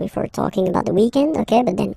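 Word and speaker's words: week-end: we're talking about the weekend okay but then pronounce it the French way weekend the weekend okay but then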